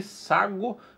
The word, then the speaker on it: Sagô: área privativa tá aí o nome dele é que sagu é assim que se pronuncia A gente já tem